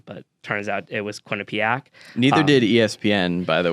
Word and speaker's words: Quinnipiac: I didn't even know how to pronounce it at the time, but turns out it was Quinnipic.